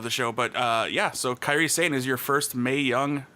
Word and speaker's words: Kairi Sane: The original plan was for the final to be Kairi Sane, right?